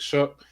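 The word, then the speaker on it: Shough: His name spelled like slow, but like Shuck.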